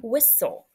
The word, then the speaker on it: whistle: how it is marked same with whistle notice you keep the S to close in that first syllable but the tle is the consonant Le exception Crossing off both the silent T and the silent e I will teach students